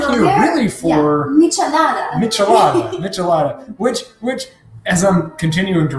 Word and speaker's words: Michelada: Just think of it as Miche and Lada. Miche is... Like Nietzsche, and Lada is like the Russian car, Soviet car.